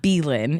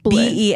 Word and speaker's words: Belen: It's not Berlin. It's Berlin. Belen.